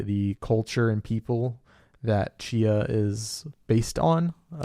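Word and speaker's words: Tchia: culture and people that Chia is based on it's spelled with a t yes yeah t c h i a I played a demo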